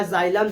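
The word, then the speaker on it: xylem: जाइलम का अगर तुम लोग पढ़ोगे तो इसका डेफिनेशन इसका स्पेलिंग आएगा एक्स वाई एल इ M Hindi में इसका देखोगे तो क्या लिखा जाता है जाइलम जाइलम जाइलम क्या करता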